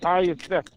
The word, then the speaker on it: Ty Nsekhe: Yeah, Ty Nsekhe.